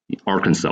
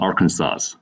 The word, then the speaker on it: Arkansas: right louisiana anything else similar in arkansas they have have to ignore s arkansas why it's not arkansas i understand right um